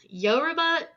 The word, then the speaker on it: Yoruba: or dirt sound like Americans oh my gosh Yoruba de homian and Congo um and Yoruba is